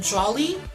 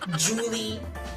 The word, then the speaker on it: Jolly: it correctly okay so it's just like jolly and jolly like Judas bakeshop remember that okay I'm jolly like Joe lucky and not Julie because I am NOT